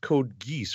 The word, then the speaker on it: Code Geass: This is pronounced code geese, right? I believe that is the case, yes. Okay. Why don't they just spell it as geese? Like the plural of goose. But anyway, code geese.